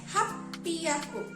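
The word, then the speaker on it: 八百: Tapi karena dia spesial, pengucapannya berbeda. Jadi ropiaku, double P ya, ropiaku, kayak gitu. Nah, untuk 800 kayak gimana? Hapiaku.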